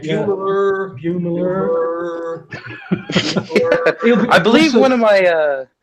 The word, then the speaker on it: Beumeler: How is it pronounced, Taylor? Beumeler. Beumeler. Right. Beumeler.